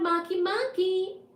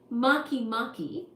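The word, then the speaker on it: Makemake: word now we will talk about maky Monkey kind of sounds like a sushi doesn't it the third large the third largest known trans neptunian object Maki Maki is significantly smaller than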